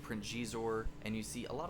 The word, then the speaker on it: Xizor: Because I was pronouncing it Xizor, and then read the junior novel, and it literally had the pronunciation as Xizor, phonetically spelled.